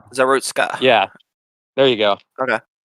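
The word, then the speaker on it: Iryna Zarutska: I don't know how to pronounce her name though, because I don't speak Ukrainian. It's like Irina Zarutska. Zarutska.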